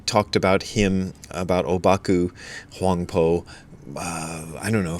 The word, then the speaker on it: Huangpo: because that's sort of his proper name in in Chinese is huangpo that's how the the Chinese pronounce it the Japanese pronounce it obaku anyway here's what obaku